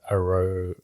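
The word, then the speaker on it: Arjona: name is Audrey Adria Arrow uh you know how to have like J is a h like yes yeah uh it's uh it's spelled with a J but I'm pretty sure it's a honor she's in this yeah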